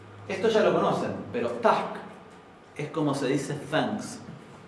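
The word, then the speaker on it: takk: Esto ya lo conocen, pero tack es como se dice thanks en islandés. La doble K se pronuncia HK.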